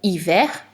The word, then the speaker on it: hiver: donc enfin de mots sauf pour certains mots qui sont des exceptions par exemple le mot hiver en entend bien r le nous allons commencer